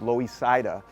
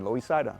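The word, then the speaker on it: Loisaida: see on avenue c it's nicknamed louis cida that's because that's how the puerto ricans pronounced uh lower east side lois said i live in the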